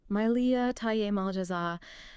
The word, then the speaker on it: Mylia Tiye Mal Jaza: It's Myia Thai Emljaza. Okay. How's that pronounced again? Miley Thai Malaza.